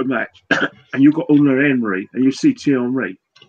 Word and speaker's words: Unai Emery: Actually, his name's Unai Emery. Anyway, that's how you pronounce it anyway.